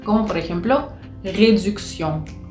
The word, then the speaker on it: réduction: Entonces cuando tenemos la T, la I, la O y la N, hacen el sonido sion, sion, como si fuese una S-I-O-N, pero no tenemos la S, tenemos una T.